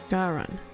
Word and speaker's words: Garan: Garan, not Gain.